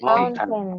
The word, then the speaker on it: mountain: Next, another way to pronounce mountain is mountain. Like with letter N.